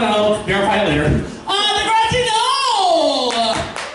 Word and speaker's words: Degrassi: Degrassi, no! Did I say it right, or Degrassi? It's either.